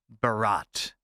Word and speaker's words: Bharat: leaders of India have started using the term Barat instead b-h-a-r-a-t I guess I'm assuming I'm pronouncing that correctly uh they have been using